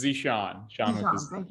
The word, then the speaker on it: Zesean: Next, Is it Jashan? Jashan? I'm so sorry if I'm pronouncing it wrong. No, you're good. It's Zishan.